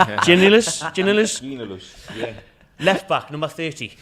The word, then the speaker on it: Giannoulis: Byram, Grant Hanley, Zimmerman, and Dimitris Giannoulis. We'll go with Dimitris. I've ever seen you struggle to pronounce the name. Giannoulis.